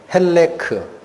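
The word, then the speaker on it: חלק: 발음만 살짝 기억하시라 그랬어요 히브리어로 뭐라고 발음 난다 그랬죠 헬크 제가 그 발음을 기억하라고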